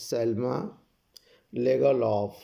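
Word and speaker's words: Selma Lagerlöf: The name of the author is Selma Legaloff. Here R is silent.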